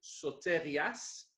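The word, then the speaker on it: σωτηρίας: Le mot est donc prononcé sotérias, ça c'est le mot grec pour salut.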